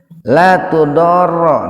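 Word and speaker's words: لَا تُضَارَّ: La tudorro. Nah, janganlah ini memakai ini, Pak nih. Kalau dalam ilmu tajwid disebutnya itu madlazim mutsaqal kilmi. La tudorro. Itu dibacanya begitu, Pak.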